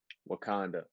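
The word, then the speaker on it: Wauconda: Pronounce what your hometown says. Wakanda.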